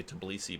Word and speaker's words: Tbilisi: I would just say Tbilisi, but there's like another little accent or another little syllable in there that I never say. But I was just really